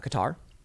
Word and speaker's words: Qatar: some Saudis in uh Qatar or Qatar however you want to pronounce it people are yelling at me because I say cutter and uh Jared Kushner